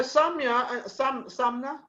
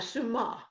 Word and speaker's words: Suma: Okay, so Sumna, and you Suma? have something in Suma. Oh, excuse me, Suma. No problem. Let me say it right, Suma.